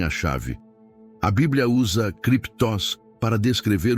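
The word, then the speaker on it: κρυπτός: Para aprofundarmos no conceito deste lugar escondido, podemos olhar para a palavra grega cruptus, se pronuncia criptos.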